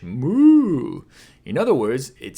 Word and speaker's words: む: Two strokes One, two む is pronounced like what cows say in English: “moo” In other words, it